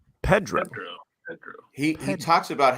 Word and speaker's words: Pedro: I heard him read his own name out loud, and he pronounced his own name as Pedro. Pedro.